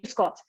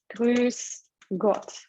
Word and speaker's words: Grüß Gott: So it's the umlaut, yeah, Ü. Grüß Gott. S. And yeah, it's called sharp S. Like so I don't. Yeah, so I don't say Grüß Gott. I say Grüß Gott. So it's like double S.